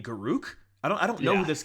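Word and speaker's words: Garruk: Like you're like Garrick, I was like, who is that? You mean Garuk?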